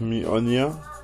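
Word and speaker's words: Mjölnir: Kommt drauf an, wie du ausgesprochen werden möchtest. Macht ja auch jeder ein bisschen anders irgendwie. Mjolnir, Mjolnir, Mjolnir. Das ist schon alles gehört. Eigentlich wird der Mjolnir ausgesprochen, aber auch Mjolnir schreibt, sagen viele.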